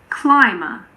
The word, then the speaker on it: climber: Occasionally, the B is silent after an M in the middle of a word. For example, in climber and plumber. Climber, plumber. When MB is in the